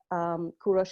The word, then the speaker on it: Kourosh: named kourosh or Cyrus Kurush is the Farsi Farsi pronunciation of Cyrus if that is in